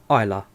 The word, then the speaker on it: Islay: you live in uh islam jonathan very nice it's pronounced isla is it isla isla isla i've been saying that wrong the whole time well i'm going to